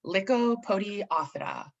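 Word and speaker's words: Lycopodiophyta: about a phylum and the way you pronounce that phylum name is liko podiath like a podiaphata it's actually pretty fun to say if you say it fast like a podiata and this is what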